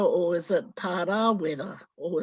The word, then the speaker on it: Parawera: besides my own is Parawera. Is it Parawera or is it Parawera or is it Parawera? And it makes a big difference as to whether you pronounce the name long or short as to the meaning